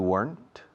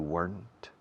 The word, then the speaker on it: weren't: You weren't where I was. You weren't where I was. Fijaos en la pronunciación de weren't. No estoy diciendo weren't. No estoy haciendo 2 sílabas. Es una sílaba rápida, cortante.